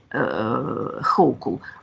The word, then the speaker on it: Hochul: Let's prove that it's a good pronunciation. We have here Хохул, Хачул, and then Hochul.